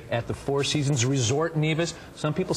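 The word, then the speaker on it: Nevis: the sun to relax neev yes that's right uh actually pronounce nevas oh nevas well see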